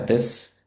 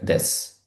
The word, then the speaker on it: です: Зверніть увагу на вимову. Здебільшого вимовляємо її як дес, а не дес.